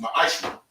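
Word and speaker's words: מעשר: Means 10th in Hebrew and is pronounced ma'ashra.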